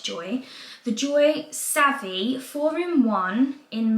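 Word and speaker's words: Joie: So I've been pronouncing it Joey, and it's not, it's Joy.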